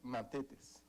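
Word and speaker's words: μαθητής: La definición de la palabra discípulo en griego es matetes. Se escribe M-A-T-H-E-T-E-S, que significa uno que aprende instrucción de otro.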